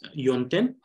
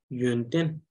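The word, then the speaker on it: ཡོན་ཏན: And this you're pronouncing as yonten, which is not entirely wrong, but try to make the sound a little less emphasized. So instead of yonten, it should be yonten.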